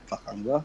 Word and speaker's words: Pakhangba: Serpents of Pakhangba.